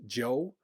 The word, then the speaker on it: Zhou: is how it's spelled but it's pronounced Joe uh it's uh was